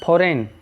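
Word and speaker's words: foreign: फॉरेन में G silent है, फॉरेन means विदेशी।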